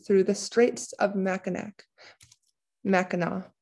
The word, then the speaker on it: Mackinac: the straits of mackinac mackinac is how we pronounce that mackinac the straits connected lake